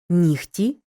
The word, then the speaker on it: нігті: дзвінкий приголосний не оглушується Але у словах нігті кігті легко вогко дігтяр і похідних пишемо г вимовляємо х префікс з перед глухим